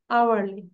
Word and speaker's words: hourly: So hourly হবে মা, hourly, ঠিক আছে? Okay, miss. We don't pronounce H, hourly, মানে H এর উচ্চারণটা হবে না।